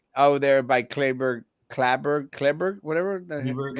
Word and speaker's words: Cleburne: He is the Republican candidate for Justice of the Peace in Clayburgh County. In And that's Cleburne, actually, huh?